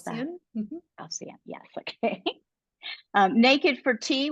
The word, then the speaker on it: Halcyon: How do you pronounce that? Halcyon, yes, okay.